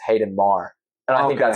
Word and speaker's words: Maher: I appreciate you greatly, man. What are your socials again? Hit me up. Hayden B. Maher, Maher.